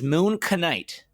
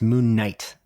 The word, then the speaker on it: Moon Knight: about marvel series yes um and that is moon canite which is the first series sorry first episode